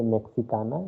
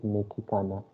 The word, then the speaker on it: mexicana: la chica now this one you pronounce it as mekhi khanna don't say mexicana it is mekikana so how will you